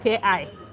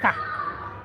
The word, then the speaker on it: ka: I guess you missed ka. Ka is K-A, not K-I.